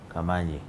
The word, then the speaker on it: Kamani: delays are different so the right pronunciation is kamani yeah from africa okay